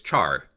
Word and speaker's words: char: Okay, then the next data type we have is char, meaning character. Char pronounced like the word Charizard.